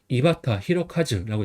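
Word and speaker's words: 井端弘和: 끝단은 바타, 클홍은 히로, 할화는 아까 전에 카즈라고 읽는다고 했죠. 그래서 카즈가 됩니다. 그래서 이바타 히로카즈라고 있습니다.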